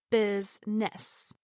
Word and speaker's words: business: Business is pronounced with two syllables. Business instead of three. The I vowel sound is dropped.